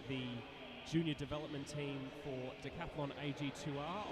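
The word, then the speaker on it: Decathlon AG2R: junior development team for Decaplan AG2R on the road next year or decapon A depending on how French your pronunciation needs to be.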